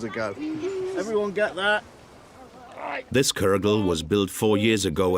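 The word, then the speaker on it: cwrwgl: seven thousand years ago everyone get that this kergel was built four years ago as an archaeological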